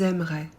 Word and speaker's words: aimeraient: aussi du futur ils aimeraient elles aimeraient pour il et elle au pluriel on ajoute a I e n t qu'on prononce e on ne prononce pas le ent jamais maintenant que vous avez